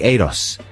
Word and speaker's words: Euros: we started off saying, is it Euros? It's spelt E-U-R-O-S. I guess Welsh listeners can give us the definitive answer to this, but he's such a sweet guy. He never, if you pronounce it wrongly, he never... No, he said that's fine. Gets angry. He doesn't really mind. So, and then one of the other band members said it's more like Eros.